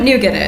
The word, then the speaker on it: nougat: Do you guys know what nougat is? No? Okay. Well, we would say nougat, because it's a French word, and I'm definitely siding on our pronunciation being more accurate to the origins of that word, but today we can